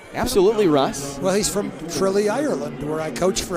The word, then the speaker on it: Tralee: And you told me earlier it's pronounced Tralee, right? Not Tralee? Tralee, as in the Tralee. Rose of Tralee.